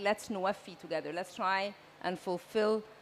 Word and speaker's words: NWFE: And since we're in a COP of implementation, going from pledges to implementation, nexus of water, food, and energy, NWFE is pronounced NWFI.